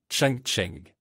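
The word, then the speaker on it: 长城: Et les Chinois dans leur pays d'origine appellent la grande muraille à leur manière Chang Cheng.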